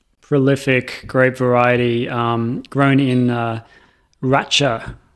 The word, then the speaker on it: Racha: grape variety grown in Racha, I believe is the pronunciation. I could be wrong. Is it Racha? Could be Racha, which is R-A-C-H-A or R-A-T-C-H-A, depending on where you're reading it.